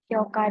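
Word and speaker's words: 氷河: Hyoka di sini itu berasal dari kanji es dan juga sungai, Kori dan Kawa.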